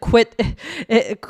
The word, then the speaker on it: quit: Okay, so we can hear how many syllables uh do do we have? It was one syllable. It was one syllable. So, that's the only one out of these that has one syllable.